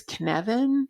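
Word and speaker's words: Cynefin: it's from dave snowden the name of it is kinevin and i think i'm pronouncing that right but it's a welsh word and it's spelled c-y-n-e-f-i-n and he was looking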